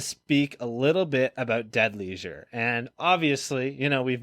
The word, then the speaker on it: Dead Leisure: So first of all, I feel like we in Australia, we pronounce leisure like leisure, leisure. So it's like dead leisure. So like it sounds strange for when you say dead leisure.